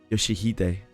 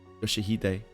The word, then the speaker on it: Yoshihide: No, that's not how you read those letters. Yoshihide. That's how you say it. Rio Shu. It's prettier and easier, so that's maybe her original name. Yoshihide.